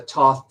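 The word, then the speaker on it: Thoth: there's another book with the Toth deck is I think how most people pronounce that there's another booklet with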